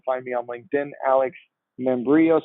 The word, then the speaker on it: Membrillo: You can also find me on LinkedIn, Alex Membrillo, spelled like quesadilla, sounds like embryo.